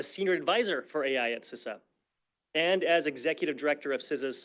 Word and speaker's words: CISA: um set s sisa seriously it's not that hard it is pronounced sisa with that out of